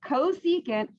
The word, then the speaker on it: cosecant: the reciprocal all right this one is csc that is cosecant that's how you say it cosecant and it is the